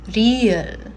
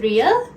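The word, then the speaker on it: 리을: So Ryul is going to be similar to an R, but we pronounce it a bit differently when we use the Korean sounds.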